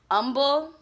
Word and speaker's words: Humble: So I end up in this area called Humble, but I call it Humble because it's spelled humble. That's how you know I'm not from Houston.